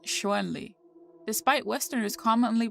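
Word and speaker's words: Chun-Li: properly romanized as Shan Lee in pinyin and pronounced shoenli despite westerners commonly pronouncing it as shonly the Japanese rendering of the name is shuntrei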